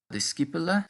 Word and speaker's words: discipula: Discipula studet. Discipula studet. En latín, la palabra discípula es un poco diferente de discípula. Significa estudiante o alumno. Y la C en latín siempre hace un sonido de K.